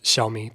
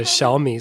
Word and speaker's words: Xiaomi: So small in Chinese is xiao, and that's the first part of Xiaomi, the word xiao.